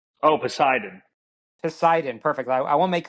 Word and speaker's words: Poseidon: And just make sure I'm pronouncing that correctly. What's the engine called? Oh, Poseidon.